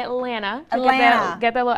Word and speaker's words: Atlanta: I'm from Atlanta actually you can't pronounce both T's you have to say Atlanta oh yeah get that